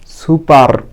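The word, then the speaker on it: super: সুপার, এস ইউ, এখানে দেখো এস ইউ পি ই আর, উচ্চারণ হবে সুপা, আরটা অনুচ্চারিত থাকবে।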